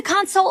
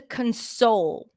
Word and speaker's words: console: right I wanted to console her after she lost her dad console notice the difference in pronunciation console stresses on the first syllable or console two different words two